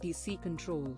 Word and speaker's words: DCCTL: DCCTL, pronounced DC control environment, enables you to use IMS TM independently of IMS DB.